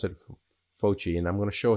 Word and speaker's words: Fauci: Some obscure person named Anthony Fauci, I think is how you pronounce it, Fauci, and I'm going to show his information in a second.